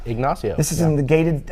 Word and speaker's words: Ignacio: pronounced it right. Ignacio.